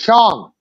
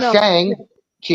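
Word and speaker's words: Shang-Chi: when uh she said Shong I'm like you finally pronounced the name correctly thank you it's not Shang Chi it's sh Chi yeah it's the whole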